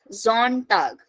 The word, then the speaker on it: Sonntag: Sunday is called der Sonntag. Again starting from S, pronunciation Z. Sonntag.